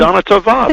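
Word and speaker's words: שנה טובה: say it wrong, but Shana Tova? Wait, say it again. Shana Tova? Am I saying it wrong? Shana Tova. That's just about it.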